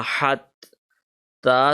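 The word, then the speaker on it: حتى: Ha Zabar Ta Hat, Ta standing Zabar Ta, Hatta. Alright, now keep this in mind. This ya is silent here because it does not have any sign. So hatta, lam zabar la, sheen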